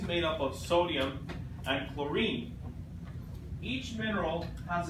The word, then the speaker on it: chlorine: I know it's a weird word, chlorine, because it has the CH in it, but it doesn't have that sound, ch. It's cu, chlorine. Okay? Yeah, the H is silent.